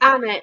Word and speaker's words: Alnwick: it was when I went up to Oldmouth and Oldmouth is pronounced Oldmouth, but when you get to Oldwick, Annick. it's Annick.